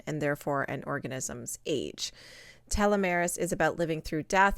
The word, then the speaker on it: telomeres: Okay, so the word is pronounced telomeres, and telomeres are at the end of the chromosomes.